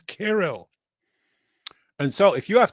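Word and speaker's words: Cyril: Abraham Harb, the correct pronunciation is Kirro. Yeah, I hate to do this and I hate to do this to you, but the correct pronunciation of it is not serial, it's carol.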